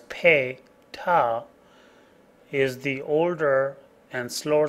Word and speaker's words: PATA: PATA, pronounced as PATA, is the older and slower standard that has seen many changes.